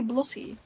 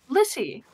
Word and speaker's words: Blissey: That would be Blussy. Well, the way that you say it, it sounds like Blussy. Blissy.